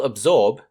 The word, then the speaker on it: absorb: absorbed is the liquid to spell absorb just sound it out a b for ab and s o r b for zorb be careful that the s makes a sort of z sound instead of the normal s sound so a b s o r b spells absorb word number four is